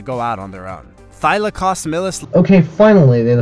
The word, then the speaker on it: Thylacosmilus: Thylacosmilus. You spelled it correctly, so how could you screw the pronunciation so bad? This is the worst attempt at pronouncing Thylacosmilus.